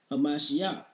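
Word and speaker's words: הַמָּשִׁיחַ: For many shall come in my name, saying, I am Hamashiach. It's a Christ, but it's Hamashiach. And Hamashiach is how you say anointed in Hebrew.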